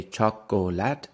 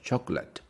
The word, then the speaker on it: chocolate: then the words chocolate we don't say chocolate like it's not three syllables we say chocolate CH the stress is on the first one chocolate chocolate how often